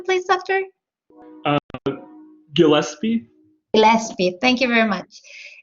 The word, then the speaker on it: Gillespie: How's the pronunciation, please, doctor? Gillespie.